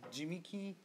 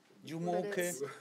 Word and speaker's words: Jumoke: There are really many ways to pronounce Jumoke, like Jimiki, Jumoke, Jumoke, but it's Jumoke.